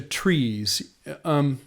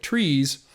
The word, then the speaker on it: TRIZ: know the that kind of getting back to trees I've always loved this idea of trying to